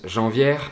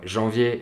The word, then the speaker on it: janvier: Beaucoup d'apprenants prononcent janvière et févrière parce qu'ils savent qu'il y a un R à la fin du mot.